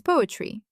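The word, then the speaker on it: поэт: A person who writes poetry. Poet. Remember the masking secret of the letter o? I remember. The stress is on e, so o relaxes and sounds like a. It turns out poet.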